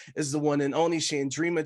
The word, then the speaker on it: Chandrima: only shandrima chatter Jay did I pronounce the name right first and foremost you were so close no please tell the people please tell the people the people Sandrina you can call me shandrima uh Chatterjee Chatterjee I'm